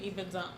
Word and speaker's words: Ibadan: is it Ibadan? It's Ibadan. Forget about how it's spelled. Yeah, it's Ibadan.